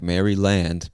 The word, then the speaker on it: Maryland: I know it looks like Maryland, but we just pronounce it Maryland.